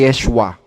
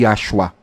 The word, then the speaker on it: Yeshua: lang ang pinag pinagtuturo sa Hebrew manuskrito na bigkas ay Yeshua hindi yoshua at yung Yeshua ay translatable